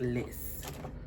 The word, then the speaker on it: Lice: It's spelled L I C E, but I looked it up and it it is pronounced Liss.